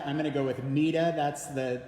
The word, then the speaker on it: Meta: name uh some Scholars refer to her as ma others as meta I'm going to go with MAA that's the pronunciation they use in the PBS documentary about